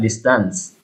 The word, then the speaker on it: distance: was following at a distance oh very good now this number i could think of distance distance distance yeah distance the the breast at the first uh the stress at the first syllable yeah i think so